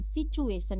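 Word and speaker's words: situation: आई टी यू ए टी आई ओ एन सिचुएशन यहां पे टी यू का pronunciation हम लोग जो है उच्चारण करेंगे टू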